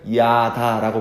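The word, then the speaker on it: ידע: 히브리어에서 알다라는 동사로 쓰인 단어는 어떻게 발음하냐면 야다라고 발음합니다.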